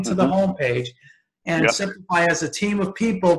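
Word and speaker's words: Simplifeye: And I'll spell it. It's S-I-M-P-L-I-F-E-Y-E, Simplify.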